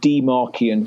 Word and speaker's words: dmarcian: But the website is called Demarkian, so I'll spell that out because it's quite a funny name.